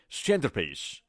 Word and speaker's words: centerpiece: اما در تلفظ آمریکایی واقعا ما تلفظ تی رو خیلی خیلی کم میشنویم. ما نمیگیم که centerpiece، ما نمیگیم center، گفته نمیشه، میگیم center. اوکی centerpiece.